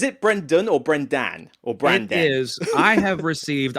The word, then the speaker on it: Branden: I've got Brendan. I've got Brian. I've got Braxton. I've been called all kind. It's Brandon. B R A N D N. I don't spell it the traditional D O N.